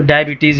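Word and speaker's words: diabetes: लिखा तो रहता है लेकिन आज तक ये ज़बीतस है कि ज़बीतिस है और आप किसी को भी बोलेंगे ज़बीतिस कोई नहीं समझेगा तो डायबिटीज ही बोले ठीक है ब्लड प्रेशर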